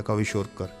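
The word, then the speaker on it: kwashiorkor: Nutrition की, जैसे कि क्वाविशोर्कर, जिसको ऐसे प्रोनाउंस किया था क्वाविशोर्कर, और दूसरी है मेरेस्मस।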